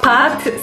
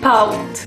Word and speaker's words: pâte: Le A avec un chapeau devient aou. C'est pas pâte, c'est paute.